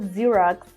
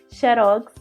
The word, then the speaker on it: Xerox: correta de xerose né cheirosos aí porque a gente né Tem esse essa pronúncia do X na língua portuguesa né então xerox mas